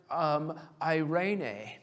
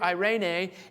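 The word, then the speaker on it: εἰρήνη: is the Greek word eirene. Now, it's spelled E-I-R-E-N-E. But I have a terrible time with pronunciation. So I literally have the word I, then the word rain, and then the letter A to make sure I can pronounce it correctly.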